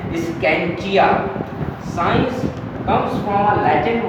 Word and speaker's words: scientia: ये एक Latin word से आया है और ये लैटिन वर्ड की प्रोनाउंसिएशन है स्कैंचिया।